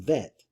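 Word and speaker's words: ב: a soft sound like the letter bet which could be pronounced bet which is a hard sound it could be also pronounced vet which is a soft sound and the gimel could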